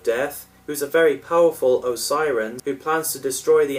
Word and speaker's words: Osiran: Apparently, Sutek's race is pronounced Osiren throughout the serial. The scripts and publicity material spelt it as Osirian in some places and as Osiran in others.